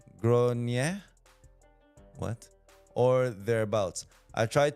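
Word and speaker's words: Gráinne: How to pronounce. Oh, it is Irish. Gronia.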